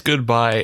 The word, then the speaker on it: GoodBi: so I would say I would imagine it's pronounced goodbye is that fair to say I would say it's goodbye and I've confirmed this with myself because the